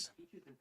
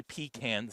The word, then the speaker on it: pecan: Yeah, we're working on it, but peaches yeah, and I think that pecans? yes, peaches and pecans, and you don't say pecans. That's not how you do it. That is proper pronunciation is pecan.